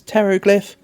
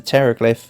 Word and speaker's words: Pteroglyph: but we'll put the Pteroglyph in front of the Hieroglyph because it's got a cooler picture. You can never hear when the Pteroglyphs are going to the toilet because the P is silent.